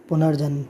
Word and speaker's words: पुनर्जन्म: ये क्या लिखा था, ये लिखा था पूर्ण जन्म, जबकि हमें क्या बोलना है, पुनर्जन्म, ठीक।